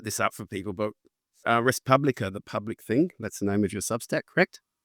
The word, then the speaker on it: res publica: And I'll put this up for people, but Respublica, the public thing, that's the name of your Substack, correct? Yes. Oh, you actually the pronunciation in the Latin is with the U, it's "u," so it's res publica.